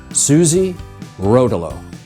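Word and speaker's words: Suze Rotolo: know about you but I have never really known how to pronounce her name I have heard every possible iteration Susie Rolo Sue Rolo I really don't know so I did what everyone does these days and I asked ai ai cited her New York Times obituary where it was stated that she pronounced it Suzie Rolo anyway for the sake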